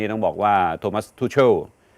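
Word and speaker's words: Tuchel: ครับ เมื่อ คืน นี่ ต้อง บอก ว่า โทมัส ทูโช ทีม นี่ มัน อนิกร ป่ะ ฮะ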